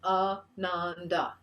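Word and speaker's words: आनन्द: Ananda. 3 syllables again. Ananda.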